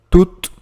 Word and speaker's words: tous: Então aqui, tu também pode substituir um nome. E mais uma vez, tomem cuidado com a pronúncia. Tous, tut, tu.